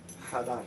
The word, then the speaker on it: Hadar: Hadar, right? Ha. Ha. So he's not ha. Hadar. H. So you don't pronounce the first H.